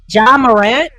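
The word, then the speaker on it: Ja Morant: Jamarant.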